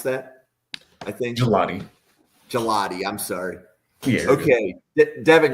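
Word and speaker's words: Gillotte: Next player, Ashton Gillott. Is that how we want to pronounce that? I think. Gelati.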